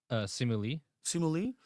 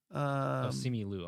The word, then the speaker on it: Simu Liu: How do I pronounce Shang-Chi's name? Simu Simu Lee. Danny Ramirez as the Falcon, Winston Duke as M'Baku. Simu Liu, I'm sorry.